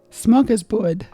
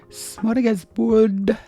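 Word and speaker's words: smörgåsbord: So instead of it goes ah, and you gotta roll your R's. And then you can sound Norwegian.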